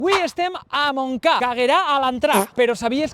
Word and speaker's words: Montcada: Tot i que el nom en valencià és amb T, la T no sona, ja que la T seguida de consonant mai es pronuncia. Montblanc, Montferrer, Montserrat, Montfort... Encara que s'escriu Montcada, la D entre vocals també cau en valencià. Magrà, Magrà, Montcà.